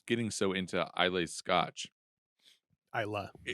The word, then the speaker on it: Islay: Islay. Islay, I know. This is America, and I'll pronounce it how it looks. Islay on an island. Islay, as the Scotch would say, when in Rome.